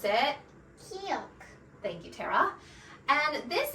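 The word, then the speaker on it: 기역: Now, let's let the native speaker pronounce it. Kiok.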